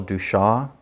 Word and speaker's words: Duchamp: Okay, but the artist Marcel, I think it's pronounced Marcel Duchamp. It's French, so you never say the last couple consonants, right?